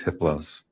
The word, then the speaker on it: Hypolos: a level four entity his name is hypolos the H is silent the other three are